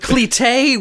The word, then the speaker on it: Cleté: Yeah, but cleté, which is how you pronounce cletus in Cajun accent.